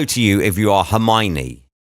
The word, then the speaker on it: Hermione: you if you are Hermione how on earth is your name Hermione's her me one if you spell it out her me one how's that Hermione or if your name